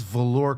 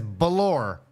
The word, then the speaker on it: velour: two he can't even he can't even pronounce velour correctly pronounced like a Mexican he says balour hey yeah check out